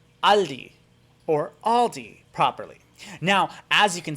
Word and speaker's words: Aldi: the lesson comes in this s right here this s does not exist it's pronounced aldi aldi and you see it